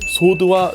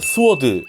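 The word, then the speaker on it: sword: 대표적으로 소드와 스워드 같은 거 말이죠. 인터넷에 검색하다 보면 말이죠, 우리나라 사람들은 어째선지 스워드란 발음을 많이 사용해요.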